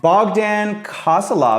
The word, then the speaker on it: Bogdan Kosilov: Today we're with Bogdan Kosilov, I believe is how you say your name, right?